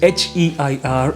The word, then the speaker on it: heir: So the second word, which is HEIR, is pronounced in the same manner as the last word, which was AIR.